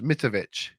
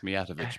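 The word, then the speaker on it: Mijatović: It's been a while since we actually agreed what the pronunciation is. Mitovic. That'll do. You still got it wrong, Dave, twice. It's Mijatovic, but anyway.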